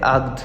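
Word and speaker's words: عقد: আগ আমাদের দুবাইতে বলে আদ মানে ক আর গো মানে একটু উচ্চারণটা একটু ভিন্ন বাট শব্দ কিন্তু একই তো আপনারা এটা একটু মিলিয়ে নিবেন আদ মানে হচ্ছে চুক্তি অথবা আদ মানে হচ্ছে চুক্তি তো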